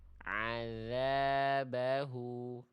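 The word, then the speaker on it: عذابه: Karena lihat aja makhrajnya nih. Azza mana makhraj huruf dalalnya? Azza azzabahu salah ya. Harusnya ujung lidah bertemu dengan ujung gigi sari atas. Adaza adzabahu.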